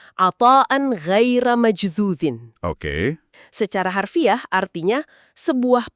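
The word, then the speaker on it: عطاءً غير مجذوذ: Dalam bahasa Arab, frasa itu bunyinya atan ghaira majdzudin. Dibacanya atan ghaira majdzudin.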